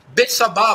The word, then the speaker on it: Betsabá: A possui, a violenta, Betsabá, Batsheva, Betsabé, como se quiser pronunciar.